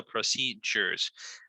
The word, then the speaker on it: procedures: So procedures. Mira, esa D de procedures es como, se pronuncia como una J.